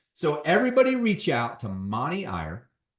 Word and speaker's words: Mani: It's Mani, right? Money Iyer. Yes, Mani, sir.